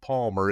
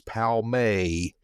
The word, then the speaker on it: Palmer: Even the name of Palmer is not Palmer, it's Palmay.